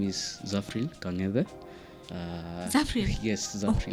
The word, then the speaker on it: Zafril: My name is Zafril Kang'ethe.